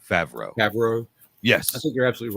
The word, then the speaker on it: Favreau: it's john uh how you say his name favreau yes i think you're absolutely right on that